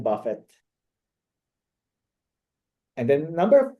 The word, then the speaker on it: Buffett: For example, earlier I heard somebody said Warren Buffett instead of Warren Buffett. Actually, it was double T in the end. So it should be Warren Buffett.